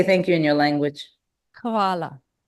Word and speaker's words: Hvala: Hvala. Kavala?